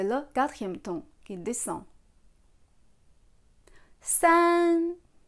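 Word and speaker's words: 三: San. San. Premier ton.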